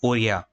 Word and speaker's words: ओड़िया: पे तो क्या हुआ ओड़िया लैंग्वेज जो है पहले इस तरीके से प्रोनाउंस किया जाता था इसको ओरिया ठीक है ओरिया इनिशियली जो है ऐड हुई थी ये एज the form of ओरिया बट फिर क्या हुआ